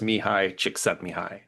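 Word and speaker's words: Mihály Csíkszentmihályi: It is, or at least from what I could find, the pronunciation is Mihi Chick Setai.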